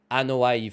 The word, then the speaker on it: Anoa'i: out dream matches featuring superstars from the extended Anoa'i family.